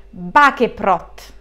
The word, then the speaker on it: Baceprot: Quindi sono qui per reagire per la prima volta insieme a voi ragazzi a Voice of Bakeprot. Dovrei averlo detto bene, ho letto che si pronuncia così, spero bene.